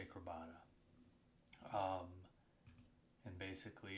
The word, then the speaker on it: Crabada: Decided to jump in to, or at least how I pronounce it, Crabada. I've heard people say Crabada, but I say Crabada.